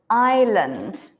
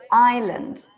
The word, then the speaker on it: island: word everyone Island yeah listen carefully to both vowels Island it's not land it's l Land good Island for example I live